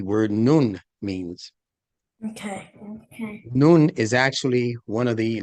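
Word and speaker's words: نون: noon means okay okay noon is actually one of the letters in Arabic and you pronounce it just like you pronounce noon like the sun is right above you you pronounce it exactly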